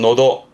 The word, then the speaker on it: 喉: 발음은 노도.